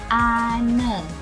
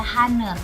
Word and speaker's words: honor: pertawanya padahal kalau dibaca Ini cara membacanya adalah aner berarti an aner ya bukan eh bukan dibaca haner tapi dibaca aner jadi ini kita menggunakan